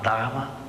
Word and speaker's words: Dharma: falar da palavra Dharma a palavra Darma é isso aqui algumas escrevem com H assim sabe temas que faz assim escreve com h que é uma palavra indiana mas é como se pronuncia Dharma a palavra Dharma ela